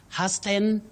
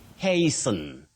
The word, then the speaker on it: hasten: But that word that letter a takes its name that is a so you say hey not ha husten no and remember the t is also silent a silent letter in